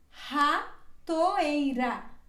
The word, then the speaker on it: ratoeira: breve hidrogru por exemplo essa palavra ela tem uma o início da palavra e outra r no meio da palavra aí ela se pronuncia assim ratoeira ratoeira ratoeira e é quando ela